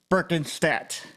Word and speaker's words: Berkenstadt: for you all today his name is Jim berken stat um yes he shaking his head right so